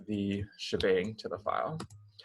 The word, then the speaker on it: shebang: add what's called the shebang to the file. So the hashtag exclamation point often pronounced as bang, called the shebang together, needs to specify exactly